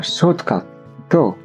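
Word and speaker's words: ショートカット: 単語は英語のショートカット同じ意味です。日本語の場合はアクセントはないけど最後のトーンが低いかな。ショートカットみたいな感じ。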